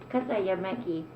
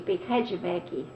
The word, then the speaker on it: Katajamäki: When you have a J, like Kataja means J, Katajamäki. In English, it was Kajamäki. They made it like a CH, like Kajam.